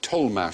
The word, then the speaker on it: Tollemache: Tollmache, spelt Tollemache, Tollmache. There was the Tollmache family, it's double-barrelled, same name, but each half was pronounced differently.